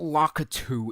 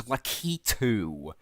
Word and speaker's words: Lakitu: troopas no no it's not Locker two it's lakitu you dumb dumb or lakitu pronounce it right you dum dum of course